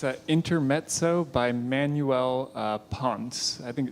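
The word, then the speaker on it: Ponce: intermo by Manuel uh Pon I think it's a p n c I think it's just pronounced Pon sounds good pon pon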